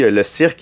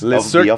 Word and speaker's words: Le cirque: Le cirque, is that how you say it? Le cirque? Le cirque. Le cirque. All right, yeah. Exactly. Yeah.